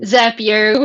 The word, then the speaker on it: Zapier: Zapier, which rhymes with happier. Yes. Everyone else calls it Zapier, and I call it Zapier.